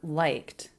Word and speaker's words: liked: liked it the verb liked I liked it I like it I liked it I liked it the e d ending here is the T sound because the sound before was unvoiced liked liked liked so